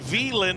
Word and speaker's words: Wieland: It is the Wieland Winternationals. Starts with a W, pronounced with a V, as we've got Garrett Alberson out front in this one.